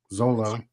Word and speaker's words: Xolo: Xolo is his first name. Zolo.